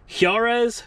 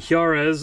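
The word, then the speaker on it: Juárez: And these 10 skids are going to, I think it's pronounced Juarez, Chihuahua, Mexico. Chihuahua is a province of Mexico, and Juarez, I believe, is the town.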